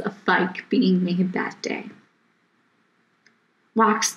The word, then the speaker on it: Fike: When he would come to my simple name of Fike, he would always mispronounce the name as Feeky. My response to him was, "It's Fike, like bike."